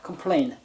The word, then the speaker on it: complaint: 분들 약하신 분들 팁자 컴플레인에서 t를 자꾸 발음을 하시는데 치는 묵음입니다 컴플레인 없다고 생각하시고 그냥 컴플레인이라고 생각하시고 소장을 제출을 해야 되겠죠 usitc